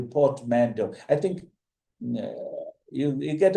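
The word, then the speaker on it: portmanteau: Of course, three is port mando. P O R T M A N T E A U Portmando.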